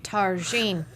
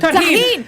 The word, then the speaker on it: tahini: Even Tarjine. I said it wrong. Tahini!